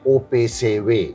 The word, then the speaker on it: OPCW: of chemical weapons opcw that Dutch would call it op say way the way they pronounce it no of course the